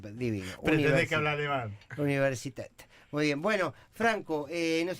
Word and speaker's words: Universität: Y se dice Universitet. Universitet. Mirá vos. Yo apenas sé hablar castellano, que divino. Pretendés que hablar alemán. Universitet.